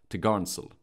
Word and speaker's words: topgallant sail: The topmost sail, mounted from the topgallant, is called the topgallant sail, pronounced topgarnsail.